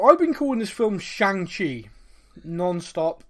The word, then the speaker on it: Shang: been calling this film shanxi non-stop it's spelled s-h-a-n-g to me that's shang yeah i mean i